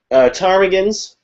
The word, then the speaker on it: ptarmigan: Ptarmigans. Saw some ptarmigans. Ptarmigans are amongst my favorite kinds of birds that have a silent P in their name.